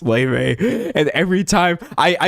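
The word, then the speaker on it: Laufey: I see L a U fy I'm like Ley But because of that, I've been saying the name of this game wrong every single time.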